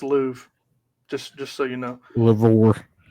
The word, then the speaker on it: Louvre: By the way, it's pronounced Louvre, just so you know.